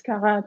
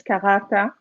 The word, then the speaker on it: Karata: extra no it's okay it's karat I'm gonna say it in French it's karata I see my accent yeah I try to say with a little bit of accent I like it it's